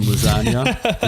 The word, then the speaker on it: lasagna: And it makes much more sense when it's written down because there's a silent G in lasagna.